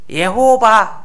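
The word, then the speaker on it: יהוה: 발음을요 엘로힘이라고 해요. 그 옆에는 예, 예호바, 우리 그렇죠? 지존자, 자존자, 스스로 계신 분, 영원한 자, 그리고 유다 민족의 하나님의 이름이 예호바래요. 우리는 어떻게 불러요? 여호와 혹은 야훼 이렇게 주님 이렇게 부르죠.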